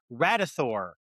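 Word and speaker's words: Radithor: But the brand was, I think it's pronounced Radathor. And I think the idea was they were trying to connect it to like Thor, like it's an energy drink.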